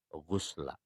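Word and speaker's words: غسل: nawaitul ghuslu, tapi nawaitul ghusla. Pakai ghinnya yang dibaca dhammah. Karena kalau ghinnya yang dibacanya fathah, maka berarti mandinya nggak seluruh tubuh yang basah.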